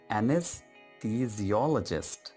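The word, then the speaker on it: anesthesiologist: है उसको कहते हैं एनेस्थीजियोलॉजिस्ट। ये नॉर्मली डिफिकल्ट है ये वर्ड प्रोनाउंस करना, सो इसको आप ब्रेक डाउन कर लीजिए ऐसे, एनस, एनएस, यू, एनेस्थीजियोलॉजिस्ट, लॉजिस्ट को इकट्ठा रखिए, एनेस्थीजियोलॉजिस्ट, ओके, एनेस्थीजियोलॉजिस्ट।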